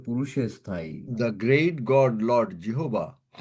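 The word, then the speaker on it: Jehovah: জিহবা ইজ মারসিফুল ঠিকমতন বল এটা কিন্তু অন্যভাবে তুমি কথাটা বললে এগুলো মানে ঈশ্বর সম্বন্ধে কথা বলছো কোন উচ্চারণে যেন অন্যরকম না হয় দা great god Lord জিহোবা is merciful.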